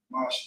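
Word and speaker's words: חמש: Number 5 is Kamash. Kamash is how you pronounce it.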